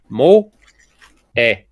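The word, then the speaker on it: 萌え: language and you see it's two syllables Mo eh pronunciation does not change based on spelling so it would be mo a it's what I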